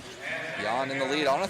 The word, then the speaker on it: Jan: Um, one of my favorite fighters is named Yan Blahovich and he's from the same area and it's spelled Jan.